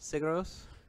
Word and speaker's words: Sigur Rós: Sigur Rós. Sigros? Yep. How do you spell it?